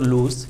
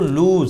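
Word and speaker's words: lose: এটার উচ্চারণ আমরা মানে লস পড়তে পারি অনেকে, এটার উচ্চারণ কিন্তু লুজ। এটা হলো লুজ, এটার অর্থ ঢিলা, আলগা।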